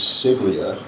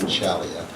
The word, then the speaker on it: Ciaglia: in the day was CLIA is how we pronounce his name and we were corrected along the way was John chalia um but John Jimmy